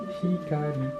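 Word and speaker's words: 光: écrire ce symbole-là, et si on le prononce à la japonaise, on va l'écrire hikari. Et donc là, j'ai indiqué que la prononciation, c'est hi, ka, i.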